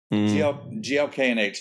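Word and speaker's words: GLK&H: is glk slash h glk and h is how they pronounce in the show i've just been looking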